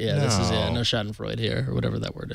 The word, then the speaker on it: Schadenfreude: This is like this is no Schadenfreude here, or whatever that word is. I can never pronounce it. You got it right. Schadenfreude.